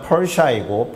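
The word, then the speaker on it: Persia: 페르시아가 영어로 발음하면 펄샤이고 펄샤를 한국어 성경으로 옮기는 과정에서 바사라고 하게 된 것은 이미 아실 겁니다.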